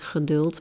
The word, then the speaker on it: geduld: This is almost an exercise in geduld. That is a Dutch word for patience. And in Germany they have the same word, geduld, but they pronounce it differently.